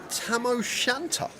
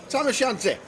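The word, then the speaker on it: tam o' shanter: And according to Lime it's called a tamosanta. Tamosante. Ah tamosanti. Tama, which is spelled T A M O S H A N T E R.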